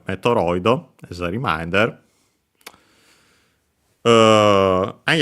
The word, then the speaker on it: メトロイド: uh and so uh for the t and the d sound they add o instead and yeah that's why we have metido as the reminder uh